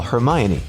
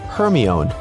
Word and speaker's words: Hermione: Maybe you've said, "Siri, call Hermione." only for Siri to comply with calling Herion.